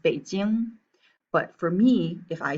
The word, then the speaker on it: Beijing: i would suggest that in terms of these g sounds at the end it's kind of like a little bounce right so when you're pronouncing the capital of beijing you should say beijing all right language note